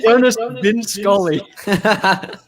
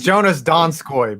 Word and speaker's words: Jonas Donskoy: I thought he said Jonas Dinskali. His name is Jonas Donskoy, by the way.